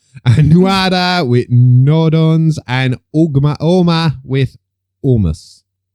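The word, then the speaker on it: Ogma: And Nuada with Nodons, and Oma with Omus. That G isn't pronounced. I know it's not pronounced. It's the same as Oma, of the Oma bombing.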